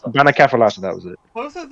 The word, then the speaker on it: Bannakaffalatta: Bannakaffalatta. Bannakaffalatta, that was it.